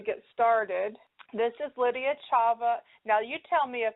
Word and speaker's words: Chava: It's Chava. It's actually Jewish. And the CH is pronounced like you've got pneumonia. Yes. Chava.